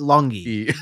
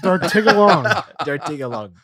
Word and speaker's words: Dartigalongue: I wasn't that far off. I added one you syllable. You said longy. Dartigalongue.